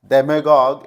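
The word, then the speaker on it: demagogue: डेमेगॉग, इस वर्ड का सही प्रोनाउंसिएशन यही है, डेमेगॉग हम बोलते हैं।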